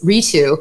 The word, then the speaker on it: Ritu: And then the anglicized pronunciation, which I went by for decades, Ritu.